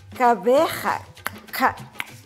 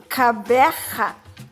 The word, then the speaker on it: Gqeberha: I mean, I know there's a click at the beginning and a at the end, you know, like you're clearing your throat, getting ready to spit, yeah, like in Gauteng. Okay, so it's Gqeberha.